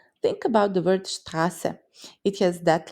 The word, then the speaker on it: Straße: Think about the word Straße. It has that letter in it. Imagine two letters S merging into one smooth line, and that's scharfes S. It's just like sharp S sound, like in kiss. Straße.